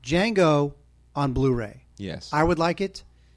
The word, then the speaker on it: Django: yes D is silent D is silent yeah now Tarantino coming out with his film Jango unchange I'm looking forward